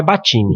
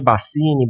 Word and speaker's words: Baccini: A pronúncia original é Battini. Battini, só que pode ser Bassini, Bacchini.